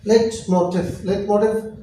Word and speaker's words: Leitmotiv: Leitmotiv. Now let pronunciation again. Leitmotiv or signature tune.